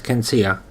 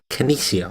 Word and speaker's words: Kenesia: It would turn out I have been pronouncing her name wrong for the entirety of her stay with us. Her name is actually Kenesia, or was actually Kenesia. It was spelt differently to the way I first saw it, and I've been mispronouncing it ever since then, so I am very sorry.